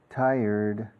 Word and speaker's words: tired: Tired. Aprended ahora la pronunciación de tired, por favor. Tired. Recordad lo que os dije ayer, como taller mecánico. Taller. Acentúa la primera sílaba. Taller. Es casi llegas ya.